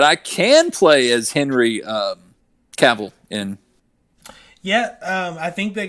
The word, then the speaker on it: Cavill: that who did henry cavill how do people think it was cavill i don't well uh it rhymes with travel that's what he said